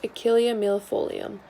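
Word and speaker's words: Achillea millefolium: yarrow the scientific name of this plant is pronounced achillea mill folium achillea stems from the name of achilles an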